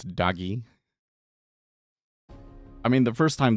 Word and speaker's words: DOGE: media and everybody else has really settled on Doge, pronouncing it Doge. So I I think that the the correct way to pronunciate pronounce it pronounce it is doge. Fair enough. And Anasta thinks it's doggy.